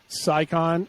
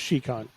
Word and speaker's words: Scicon: the video before this I would have said scicon or she but it's it's technically pronounced chican okay chican I mean